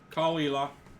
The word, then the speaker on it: Caol Ila: Yeah, it's Caol. Like, Cool. or Caol Ela.